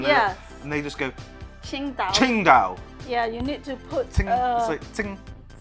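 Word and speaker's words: Tsingtao: Qingdao. Qingdao. Or Qingdao. Yeah. And they can't say the T and the S together.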